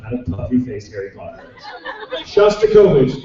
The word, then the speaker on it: Shostakovich: Shostakovich, it kind of sounds like it's spelled like it sounds. Not like Shostacola, but like Shosta.